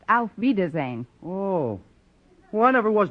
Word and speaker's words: Auf Wiedersehen: Gosh, if oof Weezer's end doesn't mean goodbye, then my coming over to wish you oof Weezer's end must make me out to be some kind of a dummy.